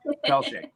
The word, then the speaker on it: Pelletier: I just butchered your last name. Can you say that again? Pelletier.